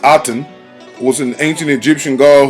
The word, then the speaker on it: Aten: page 23 character overview Athen pronounced aten was an ancient Egyptian